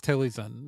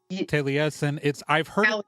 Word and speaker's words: Taliesin: what you're talking about is Taliesin or Taliesin. I have seen 3 different pronunciations for this place and none of them are remotely consistent with each other.